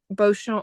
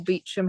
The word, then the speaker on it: Beauchamp: I suppose one sort of legacy could be that it seems she commissioned the Beauchamp or Beecham, however you want to pronounce it, pageant, um, which obviously survives to this day and was a biography of Richard Beauchamp, her grandfather.